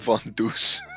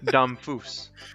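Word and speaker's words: Damphousse: Oh yes, good job, Von Deuce. What's his name? Domfus. Domfus. Oh yes. I said Von Deuce. That's not how you say his name at all.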